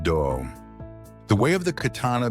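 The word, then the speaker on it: 道: When the word way is expressed in Japanese, it is pronounced do.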